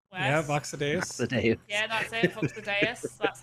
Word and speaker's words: VoxEdit: You did the Vox Duos quest. Yeah, VoxEdit.